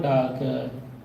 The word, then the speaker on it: Dahlke: Paul Dahlke. So even though we pronounce as Paul Dahlke, when we speak English, the correct name is Paul Dahlke.